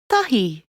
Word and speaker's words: Tahi: Try putting your tongue between your teeth when saying it. Tote, which means salt. Tiki, which means fetch. Tahi, which means 1.